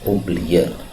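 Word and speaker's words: أُبْلِيَ: n di sini baca Bacanya bukan abla ya, ubliya.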